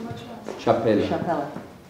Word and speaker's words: Chapela: Chapela. You spell it as in chapel with an A at the end.